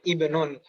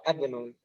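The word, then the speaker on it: ابن: Demikian juga dengan yang kosakata ke-8 itu bacanya ibnun. Jangan sampai dibaca asmun atau adnun.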